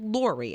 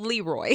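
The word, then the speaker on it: Lory: okay so lori said my name is spelled l-o-r-y so lori okay but she's been called leroy no i can see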